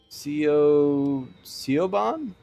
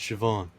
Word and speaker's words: Siobhan: into the hallway from earlier oh a portrait ceo ceo bond siobhan it's pronounced siobhan what a menacing name says here that she